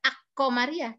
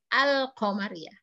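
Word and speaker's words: القمرية: nada hijrahnya as-syamsiyah kan Kalau al-qamariyah tidak aku meriah tapi al-qamariyah dilihat dari kalimatnya pun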